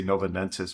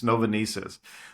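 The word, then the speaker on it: Novonesis: I can't pronounce it I want to say Nova nus but it's novais so it's two Danish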